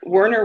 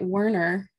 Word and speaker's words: Werner: we're in harry no werner with an a yes i always i used to actually get warner and i'm like nope it's an a um i've been married